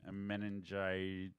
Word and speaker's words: meningitis: So before we went to break, we were talking about you having meningitis.